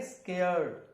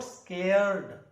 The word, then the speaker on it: scared: में लिखा हुआ है यूके के अंदर लिखा आर वहा पर साइलेंट है आर की आवाज नहीं है तो आप क्या बोलेंगे स्केड स्केड नॉट स्केरड स्केड नहीं बोलेंगे स्केड स्केड स्केड स्केड